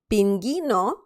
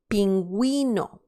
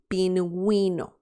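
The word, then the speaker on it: pingüino: the sound is okay so instead of saying pinging because that would be the sound without the vrs or the two dots you need to say pinguino we that is the sound okay so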